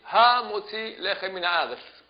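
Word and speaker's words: המוציא לחם מן הארץ: Ha Motzi Lechem, Lechem finit avec M. Min haaretz, il y a un deuxième M. Il faut bien les prononcer des deux. Hamotzi lechem min haaretz. Je dis 2 fois M. Pas dire hamotzi lechem min haaretz. On fait la liaison et c'est comme s'il y a un seul M.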